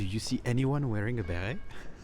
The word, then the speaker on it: béret: The béret, with the T at the end, but we don't pronounce it, was originally a hat for sheperds.